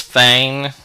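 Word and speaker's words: feign: bottom of that list our fifth word is Fain it's pronounced Fain it looks like it's spelled a little weird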